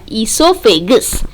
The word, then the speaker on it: esophagus: Next, food goes from the mouth to the food pipe, also called as esophagus. O is silent here.